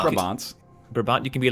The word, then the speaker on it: Brabant: Flemish Brabant. Brabant. Brabant, you can be like, Brabant province? So that has the same syllables as butter waffles?